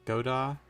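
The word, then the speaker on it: Godot: pronounce the character's name I think it's uh Goda his name g-o-d-o-t you've never applied thermal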